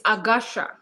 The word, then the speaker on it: Agasha: How do you pronounce it? It's Agasha.